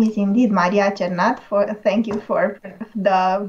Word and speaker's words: Maria Cernat: you for inviting me my name is indeed mariacharnath for thank you for the very good pronunciation uh i teach in romania into universities